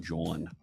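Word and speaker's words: jawn: Spell it with a J. J-A-W-N, John.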